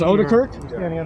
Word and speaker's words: Odekirk: It is Odekirk? Is that how it's pronounced? That's correct.